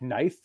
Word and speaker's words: knife: the exceptions and like like knife like it's kife right really with a K right yeah like why